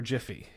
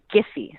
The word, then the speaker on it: Giphy: debate but the authority the official pronunciation is giffy so the hard G but just dad the